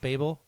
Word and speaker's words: Babel: Um that Babel Babel, is that how you pronounce that album? Babel.